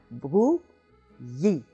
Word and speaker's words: Brouilly: So we have bru, yi.